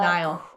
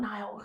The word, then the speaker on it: Niall: cool too and uh Niall not Nile who is remember his